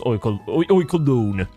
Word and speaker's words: Oinkologne: Oinkologne. Or Oinkolone. Yeah, I think during the Scarlet and Violet stream I came to a conclusion that it's pronounced Oinkolone.